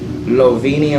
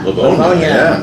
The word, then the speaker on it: Livonia: Then tomorrow I'm at Premier Pet Supply in Lovinia or Lovinia. How do you say that? Livonia, Michigan. We're not Spanish here, Oh, well, excuse me.